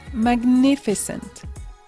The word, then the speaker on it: magnificent: c'est parti premier adjectif magnificent attention ogm on prononce bien les deux lettres magnificent magnifique cet adjectif